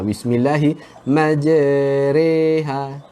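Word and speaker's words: مجريها: Jadi cara bacaan dia dengan mencondongkan, serongkan bacaan dia. Kalau ra baris atas bunyinya ra. Ra baris bawah bunyi dia ri. Jadi kita tak boleh baca ra ataupun ri.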